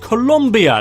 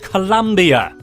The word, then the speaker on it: Colombia: Like it's spelling though, it's pronounced Colombia not Columbia.